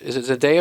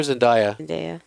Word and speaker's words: Zendaya: Or is it Zendaya or Zendaya? Zendaya.